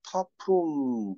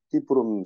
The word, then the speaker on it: Ta Prohm: 이게 영어 철자로는 타프롬 이렇게 되는데, 실제 발음은 이제 그 나라 사람들은 띠프롬이라고 하니까, 띠프롬 상황이라고 해야 되는 거지.